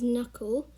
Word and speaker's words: knuckle: word we have is knuckle and the first k is silent the second you you